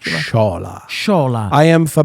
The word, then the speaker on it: Sciola: How do you pronounce Sciola? Sciola.